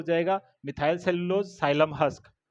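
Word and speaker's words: psyllium: एमपी से हो जाएगा methyl cellulose xylem husk. Xylem में पी साइलेंट रहता है बट याद रह जाएगा।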